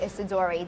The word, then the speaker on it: Isidori: All right, sitting down right now with Chef Joe Isidori.